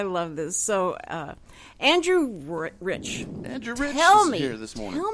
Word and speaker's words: Reich: standing inside joke because my last name is spelled re i CH like Reich yeah but we pronounce it rich and he swore up